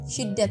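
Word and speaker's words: şiddet: Kemudian S yang ada ekornya di bawah bacanya She, jadinya Shiddat kayak SY gitu, jadinya Shiddat.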